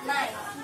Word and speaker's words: night: Night. Kalau ditulis itu N-A-I-T kalau dalam bahasa Indonesia, jadi night.